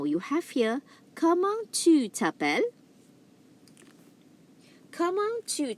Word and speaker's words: t'appelles: Comment tu t'appelles, it means what is your name. Okay, tu t'appelles comment. Again, I repeat that again. The first one, comment tu t'appelles. Comment tu t'appelles. The S here is silent.